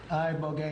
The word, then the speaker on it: Ibogaine: Ibogaine. Remember the name. Is that pronounced relatively properly, would you say? Yes. I don't want to get it wrong. Ibogaine, because it's so important, and experienced an 80